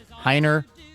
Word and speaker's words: Hiner: Hiner pronounced this is Tiffany's um you know description Hiner like Heiny.